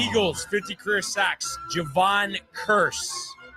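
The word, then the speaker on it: Kearse: Javon Curse. Oh, AND OH, BUT HOW' YOU OH, curse spelled like a K E A R S E.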